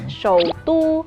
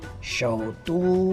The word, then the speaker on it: 首都: Ibu kota bahasa Mandarinnya Shoutu. Shoutu.